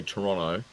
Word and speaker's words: Toronto: And And it's And it's And all all the locals say Toronto. You can't say the second T.